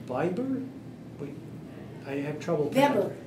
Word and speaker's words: Weber: wait I have trouble Weber w b r w e b e r w verber yeah okay that's pronounced with a V be yeah is that